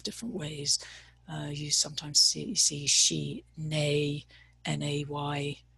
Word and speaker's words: shine: You sometimes see she, nay, n-a-y phonetically.